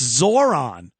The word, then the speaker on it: Zohran: It's Zoron. Zoron Mamani. Uh I would think they wouldn't want to go with Zoron because it rhymes with It's very easy to say Zoron the I kind of like Zorhan.